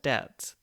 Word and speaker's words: debt: or something whereby with the word debt this is an odd case of the b never actually having been pronounced it was added in spelling by scholars of the middle ages who noted the connection to the latin word debitum there was no b before but because of this connection scholars added a silent b to the word even